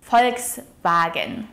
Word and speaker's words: Volkswagen: The word Volkswagen consists of two components. Das Volk, which means the people. Here the V is pronounced as an F sound.